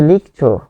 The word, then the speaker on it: লিখছো: একটি ক্রিয়াপদ বা ভার্ব তো ভার্বের শেষে যেহেতু অ রয়েছে সে অও রূপে উচ্চারিত হবে ইন্টারেস্টিং হচ্ছে এইযে এটি